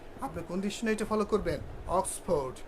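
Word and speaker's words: Oxford: অক্সফোর্ড, Cambridge, ওক্সফোর্ড, উচ্চারণটা কী হবে? ওক্সফোর্ড, Cambridge, Longman, এই ডিকশনারি অনুসরণ করতে হবে।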